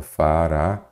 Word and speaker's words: Faraó: o mestre Mário Faraó é uma oxítona Então vamos ter que separar em sílaba Faraó perfeito oxit de sílaba